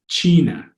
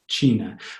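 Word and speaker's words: Tsina: sound in Tagalog so this first word is the word for China and it's Sheena Sheena once again if you say that ts7 or the TI y it starts to blur into that chef sense you can see where they're coming from Sheena the middle word is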